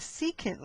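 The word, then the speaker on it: secant: If it were straight, we would call this a seeant line. Okay? And we spell that s e c a n t, right?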